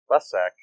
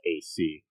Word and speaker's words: Lessac: Michael Lesek, I don't know if I'm saying that right. It's Lessac.